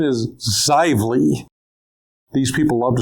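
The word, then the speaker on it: Xively: Now the pronunciation is Zively.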